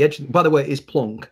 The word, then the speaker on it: Planck: by the way is plonk not planck it's plonk you know i know people criticize me sometimes pronouns that's how germans pronounce it and i'd prefer to